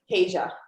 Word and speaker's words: Tasia: Okay, Tanasia. That's how you say it, Tanasia? Is it Tasia? Tasia.